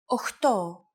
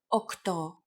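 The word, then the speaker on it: οχτώ: Sometimes, though, especially in casual conversation, Greeks also use efta instead of epta, ochto instead of okto, and ennia instead of enea.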